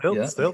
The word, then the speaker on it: Stylt: So I'm speaking today with Erik Nissen Johansen of Stylt. Am I pronouncing that right, Erik? Stylt? Yes, Stylt, Okay.